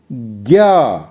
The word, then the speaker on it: ज्ञ: इसका उच्चारण है ज्ञा। कई वीडियो में इसका उच्चारण ज्या बताया है, मगर ज़्यादातर तो ज्ञा ही बोला जाता है, तो हम इसे ज्ञा ही बोलेंगे।